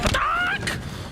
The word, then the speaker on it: Batak: I believe you're pronouncing his name wrong. I believe it's Batak! Batak!